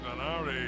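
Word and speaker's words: Donaire: And Nanito Danar, or as they pronounce him, Nanito Danare in the Philippines.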